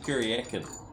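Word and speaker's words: Kuryakyn: That's it, Kuriakin. I was pronouncing it wrong because I'm not Chinese.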